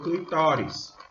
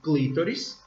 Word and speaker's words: clitóris: da uretra eu tenho clitóris ok que segundo o dicionário pode ser pronunciado das duas formas de escrita também das duas formas como clitóris com o acento no i e clitóris Então os pequenos e